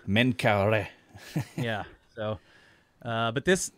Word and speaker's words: Menkaure: go here uh so minkara i i'm never sure exactly how to say this you know yusuf said min kara menkaure yeah so uh but